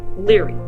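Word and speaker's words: Lóegaire: County meath his name was Luger which is pronounced Leary one day as The Story Goes High King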